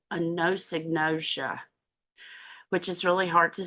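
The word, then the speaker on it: anosognosia: and then there's this thing that happens called a Noosa which is really hard to say Sharon Hall had to teach me how to say it a no synosia and that's when people aren't aware of what's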